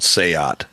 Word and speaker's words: SEAT: two tours there's a car company out of Spain called seot spelled like seat um and they threw